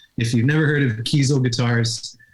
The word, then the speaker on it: Kiesel: you've never heard of kiesel guitarist it's spelled like the word diesel like diesel fuel but with a k keystone and that's a